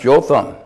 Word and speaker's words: Jotham: and i looked up the word how to pronounce joe thumb the youngest of son of gideon escaped death